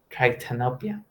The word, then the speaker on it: tritanopia: Pronounce it like tritanopia. tritanopia. Am I pronouncing it correctly? Give me 1 second. Yeah, I think it's pronounced something close to that. It's not that common word, and I think I I'm misremembering the pronunciation. But yeah, the first part pronounce it with tried.